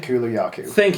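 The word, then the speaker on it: Kulu-Ya-Ku: Okay, this Kalula. Easy for you to say. Thank you. Yeah. Because You gonna come in with a pronunciation? Kulayaku.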